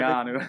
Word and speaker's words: Keanu: you said it right the first time. Keanu.